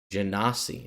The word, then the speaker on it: genasi: I'm going to actually listen to how you're supposed to pronounce it from the pronunciation guide. Here we go. Genasi, says Matt Mercer.